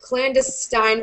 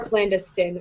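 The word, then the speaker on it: clandestine: I think you could pronounce it clandiststein or clandiston. I say clandiston.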